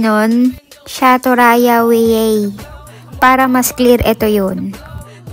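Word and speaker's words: Sátoraljaújhely: Shaturaya we. Para mas clear ito yun. o ba ang layo sa satural jao jelly kasi nga yung pronunciation ng J sa Hungary is Y.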